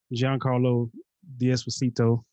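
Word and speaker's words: Giancarlo Esposito: And, you got my boy, Giancarlo D'Esposito.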